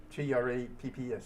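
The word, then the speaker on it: Trappes: And his mission was to drop flares on a the railroad tracks at a town called Traps. T R A Ps. Traps. My French is not but that's how it's pronounced.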